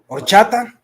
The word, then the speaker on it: Horchata: I can't pronounce that word, but ayata. What is that? What's that drink? Which drink? Mexicans drink. Horchata?